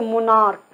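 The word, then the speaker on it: monarch: सी एच में एक चीज़ बताया था मैंने, जब सी एच का उच्चारण क होगा सिर्फ एस लगेगा, जैसे मोनार्क बताया था साथियों, मोनार्क ये सारे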